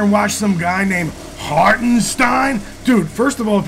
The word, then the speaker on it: Hartenstein: watch some guy named hartenstein dude first of all if you're a Knicks fan you know his name's pronounced Haren Stein second of all if